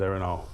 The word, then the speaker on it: Erin Og: Boston's Erin Og, Yep. yeah. Erin Og, spelled O-G. Correct. But you know, it's Gaelic. It is, yeah. It's a Gaelic Yep. pronunciation.